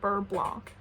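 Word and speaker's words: beurre blanc: is but sometimes like if I know how to pronounce a word in French I just I have to pronounce it the French way like I can just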